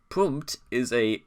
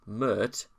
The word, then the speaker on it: Pmurt: He initially pronounced it Pmurt, based on his opinion that the P is silent when the name is said backwards.